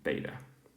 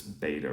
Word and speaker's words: βήτα: Now the pronunciation in modern Greek is different than if you're reading in New Testament Greek, so Koine Greek. So it's more of a V sound.